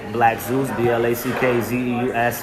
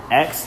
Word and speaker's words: BlackZeusx: Also, on top of that, find me on Instagram at BlackZeusx, BlackZeusx. The X is silent. All right, people forget the X. It's silent.